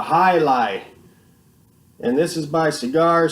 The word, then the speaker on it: Jai Alai: on the original one I called it like jail LA or something weird like that but it's actually called a highlight and this is my